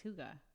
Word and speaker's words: hygge: I don't even know how it's Hygge. Is how they pronounce it.